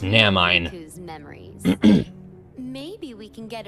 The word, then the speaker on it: Naminé: With a little help from Naminé, it's pronounced Namine.